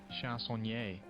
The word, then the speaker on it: chansonnier: They usually have pronunciations. Chansonnier.